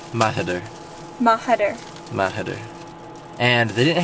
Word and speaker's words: Mahider: So it's pronounced Mahider.